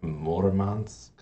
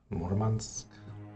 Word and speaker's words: Murmansk: Which I think in Russian may actually be Murmansk. Murmansk? I think the emphasis is on the first syllable.